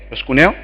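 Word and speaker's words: προσκυνέω: palabra griega que significa eh en griego se pronuncia prosc kune pros cuneo está bien los más sabios pros cuneo y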